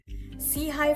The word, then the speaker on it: SIHI: Sei for short, pronounced as se which means upward forward looking.